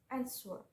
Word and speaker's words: answer: And the example of word with two syllables and the syllable on the first is answer, answer. So you must emphasize the first syllable as and the distress the second syllable swer.